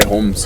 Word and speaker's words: Humz: How do you say Humz? Humz. Yeah, in my accent. Yeah, in your accent. Yeah. It's like Humz. Try say it in mine though. Humz.